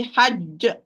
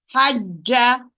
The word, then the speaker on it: حج: If I'm going to stop, it's going to be hajj. If I'm going to pronounce with fatha, it's going to be hajja.